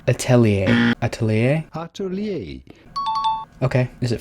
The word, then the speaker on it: Atelier: How do you pronounce that properly? Atelier. Atelier.